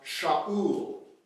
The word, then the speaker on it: Shaul: Saul's name in Hebrew is pronounced Shaul. That's not too different than Sheol.